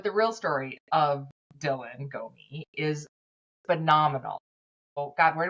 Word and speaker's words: Gomih: to me to tr try to say to pronounce it correctly. So she said to her answer to me was go me.